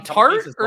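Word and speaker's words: torte: I picked this up are you saying t or do you pronounce it tor no this is a Tor this is not a Tar this is a Tor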